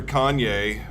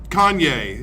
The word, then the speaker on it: Kanye: with the English language Kanye it's only two syllables yay you just sound